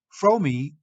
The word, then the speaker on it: Fromme: the third person from the right in the cave photo is lynette fromey nicknamed squeaky fromi is the way her name is pronounced though you will often hear it mispronounced